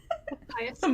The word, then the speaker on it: hyacinth: Hyakineth Hyacinth?